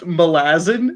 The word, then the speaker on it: Malazan: mel is analog 2022 isn't it actually pronounced malazin that sounds so bad it sounds like my dad trying to pronounce a fantasy word wrong melasma yeah i don't like there i say malazan even if it's wrong yep if you think of molasses yes leah leah please